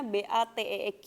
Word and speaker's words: bateeq: kemudian saya ngeliat dictionary, jadi batik itu kalau kalian buka dictionary-nya, itu dia biasanya kasih pelafalannya, itu tulisnya BATEEQ gitu. Nah jadi disitulah saya, kita pakai ini aja gitu, jadi batik. Dengan harapan bahwa orang bule pun kalau ngelihat batik tuh nggak jadi Batak atau Batek gitu ya,